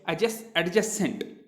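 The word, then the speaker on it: adjacent: उसी तरीके से एक और वर्ड है एडजेसेंट। जैसे एंगल्स होते हैं, जो एडजेसेंट एंगल्स होते हैं, तो हम उसको पढ़ते हैं एडजेसेंट एंगल, लेकिन एक्चुअल में वो क्या है, एडजेसेंट। यहाँ पर भी डी साइलेंट हो जाता है।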